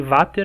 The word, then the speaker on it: Vater: É, eu falei vater, mas é porque escreve com V, mas pronuncia com F, né?